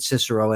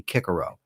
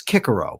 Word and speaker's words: Cicero: And notice I said Cicero and I didn't pronounce it correctly, Kikaro. But it's correctly is Kikaro.